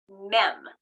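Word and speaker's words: מם: Mem.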